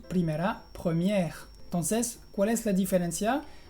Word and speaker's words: première: Y en la palabra première, como tienes la R pronunciada y la E muda al final, se dice con la E, con el sonido de la E relajada.